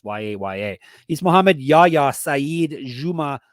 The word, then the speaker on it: Yahya: Apparently, it's Yaya.